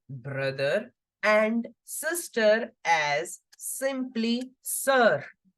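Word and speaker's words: sœur: Brother simply as frère, frère for brother, and sister as simply sir. Like in English, what do we say? Sir. The same pronunciation goes for sister in French.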